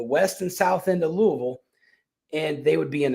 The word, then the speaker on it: Louisville: So back in 2018 in between the years 2018 and 2023, um the Louisville Louisville has a uh I'm sorry, Louisville, that's how they say it down there.